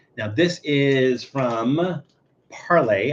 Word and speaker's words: Parle: this is is from Parlay I believe it's parlay maybe it's it's parl I I'm not sure exactly how it's pronounced this is uh I'm gonna call it parlay parlay patina uh platina